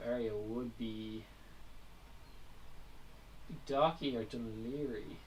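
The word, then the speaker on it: Dún Laoghaire: In reality, it does go inland, and I guess the next built-up area would be Docky or Dunleary, to spell it wrong. That's the English way of saying it, but weirdly enough.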